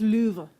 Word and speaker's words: Louvre: Actually, it's pronounced Louvre. I feel like you have to make your lips like Louvre.